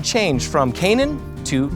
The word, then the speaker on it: Canaan: But since West Virginiaians tend to do things their own way, the pronunciation changed from Canaan to Canaan.